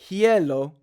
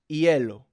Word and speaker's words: hielo: Like for the word, it's not hielo, it's hielo for ice.